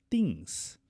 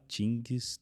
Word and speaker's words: things: A pronúncia não é fim, não é tim, não é tinch din. Você vai ignorar a letra G, porque quando tem ingra. How are things? How are things? How are things? How are things? Nada de falar tings, ting que dind de coisa de capoeira.